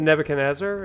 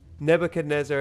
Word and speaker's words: Nebuchadnezzar: name of their ship in the Matrix the Nebuchadnezzar is that it some of our new recruits